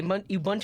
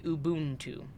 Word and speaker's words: Ubuntu: an African word and if you're pronouncing it uh the way it was meant to be pronounced in their language than it is um Ubuntu not Ubuntu how do you pronounce